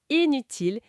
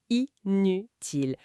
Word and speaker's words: inutile: Ce n'est pas le son nasal un, comme dans important. Ah non. Non, ça se prononce en deux temps. I, puis N. Comme dans imaginer, imaginer, ou inutile, inutile. Ça n'a rien à voir avec le un de impossible.